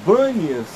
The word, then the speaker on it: Bânias: ganha seu nome, porque os árabes não conseguem pronunciar o P. Por isso é que se chama de Bânias e não de Pan. Seria de Pânias, de onde vêm essas águas. Mas por causa da presença árabe e da dificuldade da pronúncia do P, acabou ficando Bânias para todos nós.